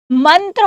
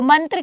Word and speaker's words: मंत्र: है यहीं पर देखो मंत्र होता है कि मंत्रा होता है तो मंत्र की सही उच्चारण क्या